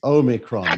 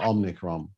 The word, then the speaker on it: omicron: interesting it's not over it's omicron not omnicrom it's common i said only crime no it's it's omicron i dennis actually there are actually three competing pronunciations all of which that's